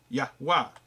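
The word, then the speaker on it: יהוה: there the the word 3068 which is yod vah or yahwa not J there's no J there anywhere in sight okay it is also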